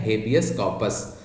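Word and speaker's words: habeas corpus: इसका सही प्रोनाउंसिएशन क्या है? हेबियस कॉर्पस, आर साइलेंट है।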